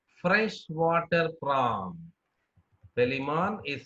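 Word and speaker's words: Palaemon: Pelimon is said to be freshwater prawn. Okay, so that see the pronunciation, Pelimon, freshwater prawn.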